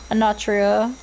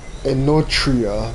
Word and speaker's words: Enotria: I just defeated a mini little boss, which is weird for a Natria. I keep mispronouncing this name. I was like, I just want to call it Anatria. Anatria. Enotria last But, song.